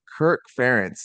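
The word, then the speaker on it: Kirk Ferentz: the car and go okay all right so Kirk fence did I pronounce his name correctly yes yeah yeah all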